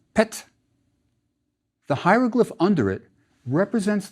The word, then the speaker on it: pt: our last word has a rectangle which is a pa and a semi-circle which is a ta so it's pronounced pet the hieroglyph under it